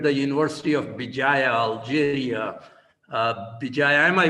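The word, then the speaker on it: Béjaïa: Bijaya, am I pronouncing it correctly, Dr.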